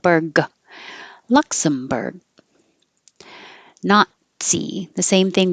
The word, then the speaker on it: Nazi: The same thing with the T. The tongue goes to the T position, not, but not. Nazi. And I put this here to remind you that it just sounds like Nazi.